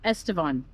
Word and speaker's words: Estevan: Estevan. Yeah, Estevan. We were both pronouncing that wrong.